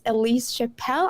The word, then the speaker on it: Ellise Chapell: It's Ellise Yeah. Chapell. That's how she called it.